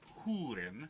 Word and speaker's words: Húrin: so the children of húrin is Hootin sorry that's the correct way of pronouncing it is a story mainly